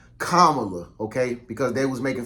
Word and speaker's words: Kamala: now is because if camela Harris or let my bad kamla okay because they was